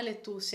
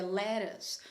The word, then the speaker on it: lettuce: Ah, vamos ver como é que é a pronúncia? Ah, não é lettuce, é lettuce.